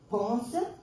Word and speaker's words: Ponce: L'église, après, j'ai découvert que vous avez le saint patron, que c'est Saint Ponce. Moi, je disais pont, et puis elle m'a dit non, la S ici, on la prononce.